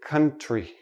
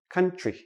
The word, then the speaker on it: country: for a few letters when we have TR TR together usually sounds like C HR so we don't say country we say country country tree like a